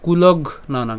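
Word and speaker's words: কুলঘ্নানাং: রেই এরপর কুলগ নানাং আমরা এখানে ঘ পর্যন্ত উচ্চারণ করছি এই কুলগ হ্যাঁ ঘ পর্যন্ত যদি উচ্চারণ করি তাইলে কুলগ অর্থাৎ ঘ এর এর মধ্যে আমরা হস চিহ্ন পর্যন্ত উচ্চারণ করলাম অর্থাৎ যুক্তবর্ণ যেহেতু রয়েছে ঘ এবং হচ্ছে ন তো আমরা একে যদি আমরা ভাঙ্গি তাহলে কি পাই ঘ যোগ হচ্ছে ন আমাদের যে ন টা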